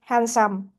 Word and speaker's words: handsome: So next one we have the letter D is silent in these words uh west day handsome handkerchief.